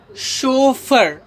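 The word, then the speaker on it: chauffeur: तो देखिए इसे पढ़ते हैं हम शोफर।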